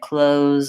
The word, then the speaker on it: clothes: they might say I closed the door my clothes are in the closet so I suggest if